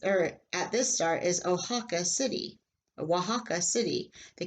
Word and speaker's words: Oaxaca: it is the name of the state it's pronounced Oaxaca and here is this star and is earth at this star is Oaxaca City a Oaxaca City the capital of the